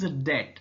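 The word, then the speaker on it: debt: so it's pronunciation is dead spelling is de Beatty here B is silent so what is that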